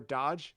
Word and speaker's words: Dajh: father of Dajh or Dodge. It's He's pretty hard on the j, right? Dodge? Yeah. But it it is spelled d a g d a j h.